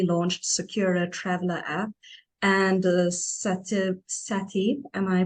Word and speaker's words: SATIB: Likewise, you're the creator of South Africa's newly launched Secura Traveler app and SATIB. Am I pronouncing it right? Yes, SATIB, SATIB going.